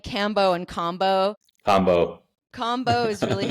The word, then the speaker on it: Kambo: In America, it might be called Cambo. We might go back and forth. I'm trying to unlearn cambo and go back to combo, which I think is is kind of the correct way to pronounce it.